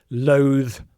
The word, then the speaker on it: loathe: Loa.